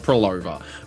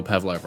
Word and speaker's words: Phrolova: I'm well aware it's pronounced Prolova, but I don't know. I just, for some reason, I like to call her Pavlova.